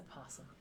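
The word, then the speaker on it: opossum: quiet but angry possum you don't pronounce that oh why is the o even there don't ask me but it's a possum a possum okay there's no o it's just possum possum it's a possum yes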